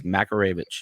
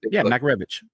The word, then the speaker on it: Makarevich: It's Makarevich. It's not that freaking hard. So between the announcers watching ball games, the in-house PA person in UVA screwing it up, and like, do they not get a pronunciation guide? Like, and once you hear it the first time, it makes sense. Makarevich. It's easy. Makarevich.